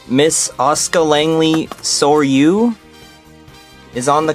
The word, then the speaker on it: Asuka: Ahsoka? That is not how you say her name. Miss Asuka Langley Soryu?